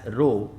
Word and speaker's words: rho: a this constant row it is actually pronounced as rho and this rho is